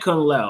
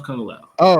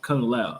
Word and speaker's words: Kung Lao: Yeah, I meant Kungla. I'm sorry. That was Kungla. Oh. Oh, okay. Okay. Okay. Yeah. Kung Lao. I said it wrong. My My apologies. Not Liu Kane. Kung Lao.